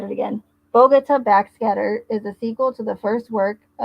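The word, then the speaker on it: Bogotá: got corrected several times that it's Bogota, not Bogota, even though I like Bogota better, but I want to say it correctly.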